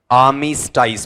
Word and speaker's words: armistice: इसे पढ़ते हैं अपन आर्मिस्टाइस। पढ़ के बताओ क्या है, आर्मिस्टाइस।